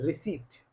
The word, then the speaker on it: receipt: prounce it re re this is not receip this is receipt receip this is receip not re after P the next letter is r is silent if it if it